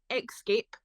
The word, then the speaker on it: Xscape: at bread called Escape it pronounced excape because it's with a with an eggs so I was like